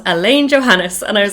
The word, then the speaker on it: Alain: And he's like, the manliest man you've ever seen in your entire life, that I've been calling Alain the whole time.